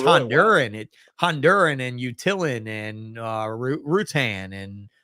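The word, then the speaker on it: Roatán: Honduran, Honduran and Utillan and Rutan and Roatan, as whites would call it, right? I mean, we all say Roatan because we want to pronounce the Roa, but they say Rutan on Rutan.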